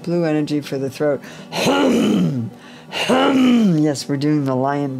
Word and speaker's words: Hum: Hum. Yes, we're doing the lion breath. Hum. The tongue comes out. Hum. As you repeat H-U-M, the paws flare up, the hands flare up. Hum.